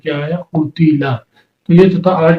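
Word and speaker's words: قُتِلَ: حرکتیں بھی علیحدہ، یعنی قاف کے اوپر پیش، تا کے نیچے زیر، لام کے اوپر زبر، تینوں کے اوپر زبر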